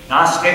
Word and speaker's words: Gnostic: God known as wisdom Gnostic and it's spelled with a g kosis in Greek is